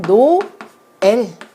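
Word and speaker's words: Noël: 점이 이렇게 두 개 붙은 경우에는 우리가 철자를 배울 때 트레마라고 해서 그거는 모음과 모음을 같이 붙여서 발음하지 말고 따로 떨어져서 발음을 해라. 그래서 이걸 어려운 말로 분절이라고 하는데요. 따로 떨어져서 소리를 내게 하는 장치가 바로 이 의 위에 있는 트레마라고 하는 철자 기호입니다. 그래서 얘를 노엘 이라고 이렇게 읽어야지 되는 거예요.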